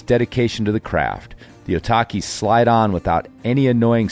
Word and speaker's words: Otaki: obsessing with the name otaki since sportiva released the Slick blue shoe a couple years ago rhymes with suvlaki in Japanese it apparently